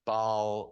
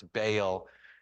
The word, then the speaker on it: Baal: and some people pronounce Bale and uh my I think my My Old Testament teacher in seminary said baale and and there's a Tennyson poem that that says baale and I just think uh